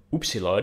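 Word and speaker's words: upsilon: through the word toad oopsy we remember through a French U so much like in French that's that sort of U then we have thi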